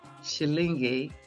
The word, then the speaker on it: shilingi: The shilling in Swahili is pronounced shilingi.